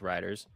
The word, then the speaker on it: Reuters: coming in from how do somebody say you pronounce it? Riders? Yeah, Riders. I said Reuters. Yeah, so it's Riders.